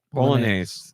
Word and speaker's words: Bolognese: Bolognese. Yeah. Well, maybe that's the right way to say it. Bolognese, also a silent G.